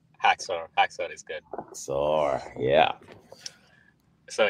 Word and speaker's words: Haxor: Next up, Haxor, how should I pronounce? Haxor is good.